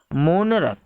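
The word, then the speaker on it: monarch: मोनरक, मोनरक, here CH is equal to क, it means यहाँ हम CH को क प्रोनाउंस कर रहे हैं, क उच्चरित हो रहा है, इसलिए हम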